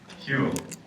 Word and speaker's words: Whewell: Yes, Whewell, William Whewell.